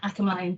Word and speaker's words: Akinmolayan: title of my slide I've also put how my name is pronounced that will come into play into why I do that in this talk um but yeah follow Shadow I can mine and so I just